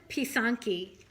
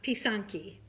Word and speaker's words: pysanky: it you pronounced it Poisson ki p ee sa NK y would be like the phonetic spelling so piss on piece on ki and one is a